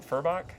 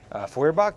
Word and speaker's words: Feuerbach: And then up front, we have a proxied crit Kokram with a, how do you pronounce it? Furbach? Feuerbach, yeah.